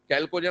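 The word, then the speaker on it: chalcogen: 17 हेलोजन, 16 कैल्कोजन. CH लिखते हैं but pronunciation कैल्कोजन होता है.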